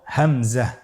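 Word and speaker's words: همزة: পরবর্তী হরফটির নাম হলো হামজা। পরবর্তী হরফটির নাম হামজা। হামজা হরফটি উচ্চারণ ক্ষেত্রে বারিক করে উচ্চারণ করতে হবে এবং এখানে টেনে পড়া যাবে না, দ্রুত পড়তে হবে।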